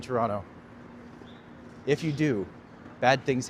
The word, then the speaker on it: Toronto: The most important thing you do with your life is never pronounce the second T in Toronto.